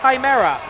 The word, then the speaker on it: Chimera: era plaques one - it's not shimmer reflects it's chimera and listen pretty sure